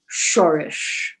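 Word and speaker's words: שורש: The roots are called in Hebrew shorish. All right? Shorish, if you want to spell it in Hebrew, is shin vav resh shin.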